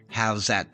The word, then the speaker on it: Howzat: For overseas listeners that may not know that song, check out How's That? That's spelled Howzat.